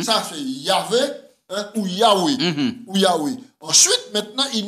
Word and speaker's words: Yahweh: prononcez 4 lettres là, YH, qui m'a quoi prononcer mot là, et qui ça signifie? Yahweh, Yahvé.